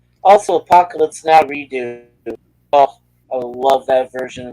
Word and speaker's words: Redux: And it's spelled Redux, but they pronounce it redo. So it's Apocalypse Now redo.